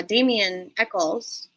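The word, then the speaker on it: Damien Echols: don't want anybody to lose hope because uh Daman Echols um is that am I saying it right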